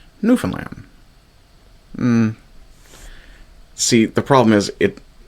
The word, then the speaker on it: Newfoundland: The 1939 guidelines for the Broadcasting Corporation of Newfoundland read, "All three syllables are to be given equal value, but a slight stressing of the final syllable will be permissible."